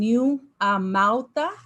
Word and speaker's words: NewAmauta: So it's NewAmauta. Its pronunciation NewAmauta.